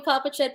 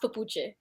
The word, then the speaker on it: Popuchet: I don't know if he's right, but listen, you could call me Popuchet, Popuchet, but yes, it is pronounced Papuche.